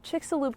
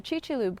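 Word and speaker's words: Chicxulub: Oh, and fun fact, I also learned on the field trip that the Chickixaloo Crater is actually pronounced the Chi-Choop Crater, which, you know, makes sense in hindsight.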